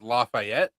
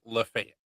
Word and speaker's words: Lafayette: We have what would be pronounced as Lafayette. and everybody calls it Lafayette.